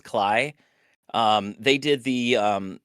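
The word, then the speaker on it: Klei: I don't know how to pronounce that, but I think it's I think it's Cly.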